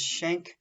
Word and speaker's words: Schenck: Supreme Court case is Schank versus the United States you want to put that at the top of your page Schank is spelled SCH e and c K versus the United States so